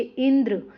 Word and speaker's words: इंद्र: इन शब्दों का उच्चारण कीजिए। इंद्र यहां पे देखो इंद्र अग्नि तो यहां पर क्या है?